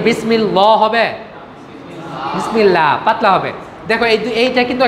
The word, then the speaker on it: বিসমিল্লাহ: বিসমিল্লাহ, পাতলা হবে। দেখো এইটা কিন্তু একটা গুরুত্বপূর্ণ নিয়ম। আল্লাহ শব্দের পূর্বে যদি জের আসে তাহলে আল্লাহ শব্দটা হালকা করে পাতলা করে উচ্চারণ হবে, যেমন বিসমিল্লাহ।